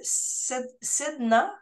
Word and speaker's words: Sedna: Et tu as ouvert ta boîte, ton cabinet en 2020 et ça s'appelle le cabinet Sedna. C'est comme ça que tu le prononces? Oui, exactement.